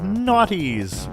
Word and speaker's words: Gnawty: And 2 more of these beavers, which incidentally are called Naughties, which is hilarious because it's spelled Gnawty.